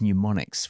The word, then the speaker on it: mnemonics: And the younger creatives were like, no, we use mnemonics with a silent M and sonic branding and logos.